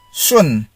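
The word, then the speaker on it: shun: is pronounced as shui s-h-u-n is pronounced soon s-h-u-o is pronounced as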